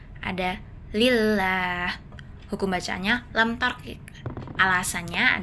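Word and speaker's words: لله: Jadi cara bacanya bunyi lam dibaca tipis atau lembut bukan tebal. Jadi lillah bukan lillah bukan tapi lillah. Lamnya tak ditebalkan.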